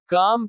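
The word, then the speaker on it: calm: जब I, A, O या के बाद आता है तो L का उच्चारण नहीं होता। काम शांत।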